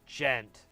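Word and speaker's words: djent: and calling it that now I've been told the D is silent which I don't like that at all to be hon honest with you I don't I'm not cool with that's weird man who the makes the D okay anyway so I've been told the D is silent and that it's gent but I kind of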